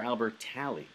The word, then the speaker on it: Albertalli: Is it Albertalli or Albertalli? So I say Albertalli because I think that's easier to say.